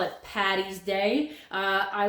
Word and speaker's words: Paddy: Paddy's Day, it's actually Paddy, like Padraig. This is an A, if you can't. Padraig. And Padraig is Patrick. And Paddy is Paddy for Padraig, St. Patrick. So when you want to wish your friends Happy St. Patrick's Day or Happy St. Paddy's Day, be sure to use the D's, the double D's, not the double T's, because Patty is short